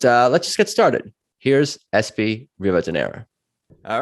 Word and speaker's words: Espi Rivadeneira: Here's Espi Rivadeneira. All right, so it's good to see you today, Espi Rivadeneira.